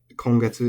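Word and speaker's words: 今月: last month, but then kongetsu for this month is flat. So sengetsu for last month is atamadaka, first high, or initial high. Kongetsu is flat, and then daigetsu for next month is atamadaka, accented.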